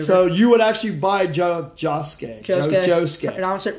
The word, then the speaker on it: Josuke: Suki yes did I say it right it's josuke where'd you get josuke out of that it